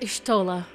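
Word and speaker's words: Y'shtola: It's pronounced Yshota.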